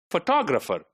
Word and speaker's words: photographer: Then photographer. Photographer, 1, 2, 3, 4. The second one is made prominent. The second one is stressed, right?